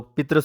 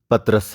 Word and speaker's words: پطرس: مصنف پطرس بخاری ہیں۔ پطرس بخاری کو بعض لوگ پطرس بخاری بھی کہتے ہیں، جبکہ صحیح تلفظ پطرس ہے۔ دراصل یہ انگریزی